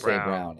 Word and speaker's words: Braun: that is because if you read it's Christian Braun but they pronounce why say brown it is BR you know what is they